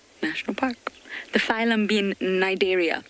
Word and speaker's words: Cnidaria: The phylum being Cnidaria. It starts with a C, but you don't pronounce the C. Cnidaria.